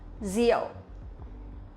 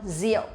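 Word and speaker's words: rượu: pronounce the r sound we will not pronounce like r in english but we pronounce like z sound in vietnamese or in english zeal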